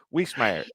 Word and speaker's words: Wiesemeyer: Whismire. Uh, don't make it hard. And if you're pronouncing it, as I tell people, just say it fast.